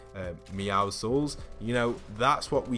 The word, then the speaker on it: Meowscles: and then the Meowsicle, or as I always pronounce it, Meowsicles, but it's actually Meowscles.